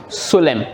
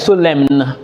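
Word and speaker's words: solemn: him and we have sulem so there is nothing like so lemon no the n is silent that's for the silent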